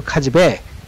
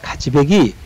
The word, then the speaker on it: 카즈베기: 카즈백 같은 경우도 카즈백 이러는데 카즈백이 이렇게 발음을 합니다.